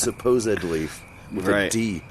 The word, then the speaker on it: supposedly: It's not supposedly, it's supposedly with a D.